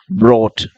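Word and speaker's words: brought: Boat, ப்ரோட், தாட். அதுக்கெல்லாம் அந்த யூஜிஹெச் வந்து அது சைலண்ட். அதை ப்ரொனவுன்ஸ் பண்ணாதீங்க.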